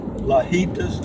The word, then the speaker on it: Lajitas: It's called Lajitas, and you'll have to look that up. It's L-A, and then J in Spanish is pronounced H. Lajitas. I think it's L-A-J, H-I-T-A-S, I guess. I'm not sure. L-A-J-I-T-A-S.